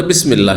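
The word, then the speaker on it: بسم الله: তো মাঝখানে পড়ার কারণে হামজাটি সেখানে মিলিত হয়ে গেছে, ওয়াসল যেটি বলা হয়, উচ্চারণ হয়নি। আর আরও অতিরিক্ত লিখাতে হালকা করার জন্য লিখনি থেকেও সরিয়ে দেওয়া হয়েছে, তারপরে বিসমিল্লাহ হয়ে গেছে।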